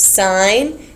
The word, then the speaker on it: sine: Now we are going to learn where sine and cosine come into play. Remember, you pronounce this sine and you pronounce this cosine. You don't say sin or cos, because that really gets on my nerves.